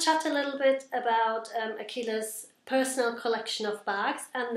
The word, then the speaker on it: Aqila: I've got the lovely Aqila here next to me and I just had to ask her to pronounce the name. It's definitely Aqila. Aqila, that's right.